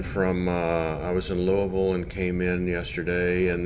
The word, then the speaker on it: Louisville: i flew in from uh i was in louisville and came in yesterday and then right over